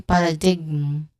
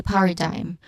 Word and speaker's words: paradigm: Here, as you've noticed from the spelling, the letter G letter, and that was redundant, the letter J, this one in the spelling, that one is a silent letter. We do not say paradigm. Okay? We do not say that this word as like that. We say paradigm with a silent letter G.